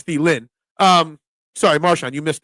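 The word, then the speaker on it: Thielen: Adam thelin thin now I always had a d at the end of thind it's the Lynn um sorry marshan you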